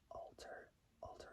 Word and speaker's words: Alter: Ethan Alter is spelled A-L-T-E-R. It's like saying the word Walter, but taking out the W. So taking out the W and just sticking with the word alter.